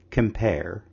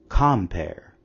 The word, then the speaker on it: compare: syllables within a line say the word compare now say the word again but place the emphasis on the first syllable compare do you notice that the second one sounds Odd as you can see